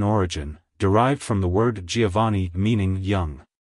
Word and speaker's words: Giovani: in the last syllable the V is pronounced softly almost like a b like hello Giovani goodbye Giovani if you found the